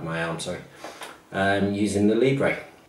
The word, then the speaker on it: Libre: I also have a tendency to call it Libre because it's written L-I-B-R-E, Libre. So if I pronounce it Libre or Libra, I'm talking about the same thing.